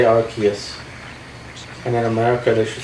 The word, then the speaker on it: Arceus: Yeah, they go with Arceus now. It was originally Arceus, but that's how I remember it. In Britain, they say arse. That means ass.